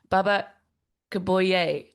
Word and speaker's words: Baba Kuboye: Welcome to a Songwriter Trysts, and today we have a very special friend that I met just last week, actually, Baba Kuboye.